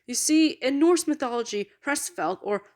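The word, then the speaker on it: Hræsvelgr: and her family you see in Norse mythology prestvelt or pressfelger as it's originally pronounced was a yotune or Frost giant for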